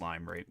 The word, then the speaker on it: Limerick: It's I don't think it's pronounced Limerick.